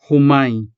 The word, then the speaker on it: humay: This word consists of two syllables, hu and the three-letter syllable may. Although the letter Y is technically classified as a consonant, it pairs with the preceding vowel A to form the diphthong I. And as a result, the syllable may has a vowel-like sound ending.